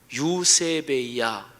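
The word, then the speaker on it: εὐσέβεια: 헬라어 뜻이 어떻게 되냐면 우선 발음을 얘기하면 요셉의야 이게 경건이란 말에 헬라어 발음이에요 요셉의야 그런데이 말은 두 개가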